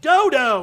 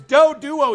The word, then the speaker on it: Doduo: He was like, Dodo! And it's like, it's not Dodo, it's Doduo, you jackass!